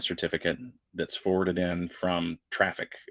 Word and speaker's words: Traefik: And what it does is it grabs the the TLS client certificate that's forwarded in from Traffic. TRAEFIK is how that's spelled.